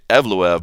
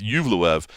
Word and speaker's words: Movsar Evloev: Talking about those rookie reports, Movsar Evloev, I think is the right way to say it. Evloev. I was saying Evloev, but it's Evloev.